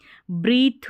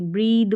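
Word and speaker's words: breathe: इसको ब्रीथ नहीं पढ़ेंगे, ब्रीद पढ़ेंगे, ब्रीद द साउंड रहेगा टी एच का।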